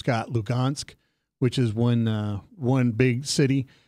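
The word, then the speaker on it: Luhansk: The H's are pronounced with a G, Lugansk, and that goes all the way around.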